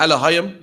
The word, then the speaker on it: Elohim: Yeah, man, the Elohim, you know what I mean? That's how you pronounce it in Lashwan Kodash.